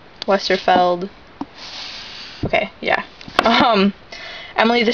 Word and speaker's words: Westerfeld: book in the Uglies series uglies by Scott Westerfield westerfeld okay yeah um Emily the strange by braad